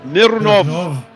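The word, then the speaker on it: Mironov: You have to roll your Rs when you say Mirunov. Mirunov Mirnov.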